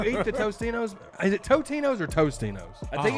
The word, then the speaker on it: Totino's: when you eat the Tostinos, is it Totinos or Tostinos? I think it's comment Totino's. above, people. I think it's Totino's. Oh, well, I've never called it Totinos. I've I think always it's called it Totino's. Tostinos.